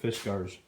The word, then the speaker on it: Fiskars: of fisgars productss and that's how they pronounce it fisar and uh you know